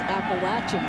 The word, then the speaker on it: Appalachian: Fall first down uhoh Jack witer mispronounced it it's Appalachian State yeah there's the